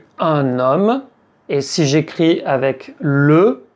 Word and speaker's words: homme: Et bien, avec les mots qui commencent par “h”, un “h muet”, Un_homme, un_hôtel. Un_hôpital. Vous voyez qu'on fait la liaison.